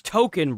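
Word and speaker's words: Tokon: It's token, bro. It's token. Is that not what this is? Is it not just token? It is. It's token. It's Yeah, it's pronounced that way because it's a Japanese game, right?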